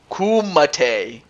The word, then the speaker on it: Kumite: on to McGregor though it's pronounced kumate kumate oh I did not